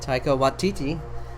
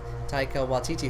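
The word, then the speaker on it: Taika Waititi: uh uh what the heck is his name tycho watiti it's hard to say his name taika watiti who did wrote and directed thor ragnarok which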